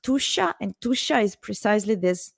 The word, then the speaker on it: Tuscia: This is pronounced Tuscia, and Tuscia is precisely this territory, this region south of Tuscany in Italy, where I live now, between Florence and Rome.